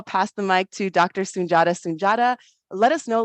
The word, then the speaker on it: Sundiata: As Maryella said, my name is Soon-Jahta. Soon-Jahta, spelled differently, but pronounced the same.